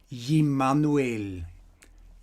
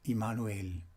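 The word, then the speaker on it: Jmmanuel: christianity as jesus christ was called e-manuel e-manuel in his time and not emmanuel he manuel and not emmanuel as we are calling or referring to him today and as you know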